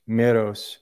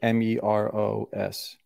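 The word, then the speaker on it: μηρός: So it'd be like Meros.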